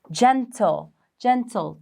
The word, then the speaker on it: gentle: There's an E. So it's going to be a soft G. Gentle.